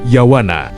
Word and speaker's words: Yavana: Javana atau Yavana dan pelafalan untuk yavana biasanya kita sebut sebagai yawana.